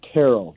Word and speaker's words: Terrell: Is it Terrell or Terrell? No, you're saying that exactly right. It's Terrell.